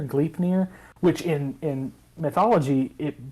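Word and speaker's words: Gleipnir: is uh the rope i think it's pronounced glyph near gleefnir which in in mythology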